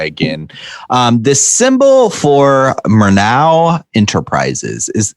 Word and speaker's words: Murnau: um this symbol for mernau enterprises is that's how it's pronounced right murnau right yeah like the director right yeah okay that's